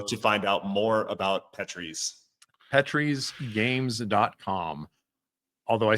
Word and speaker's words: Petries: Oh, and also thank you for pronouncing it correctly. I didn't have to correct you on anything. So the Petries. Yep. We are not a petri dish.